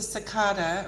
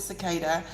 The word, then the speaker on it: cicada: It was very interesting, and it's a cicada or a cicada, depending upon where you live and how you pronounce cicada. I pronounce it cicada.